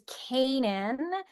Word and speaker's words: Canaan: My last name is one that people often get wrong, which is Kanan.